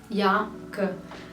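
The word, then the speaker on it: jakke: अब यहां पे आप नोटिस कीजिएगा कि जे ए के के ई को मैं या ग बोल रही हूं। क्योंकि जो डेनिश में जे होता है उसका जो प्रोनंसिएशन होता है वो इंग्लिश के वाई जैसा होता है। और जहां पे भी आपको डबल के दिखेगा आपको उसको जी की तरह ग पढ़ना है। ठीक है? तो आपको जे के नहीं कहना है।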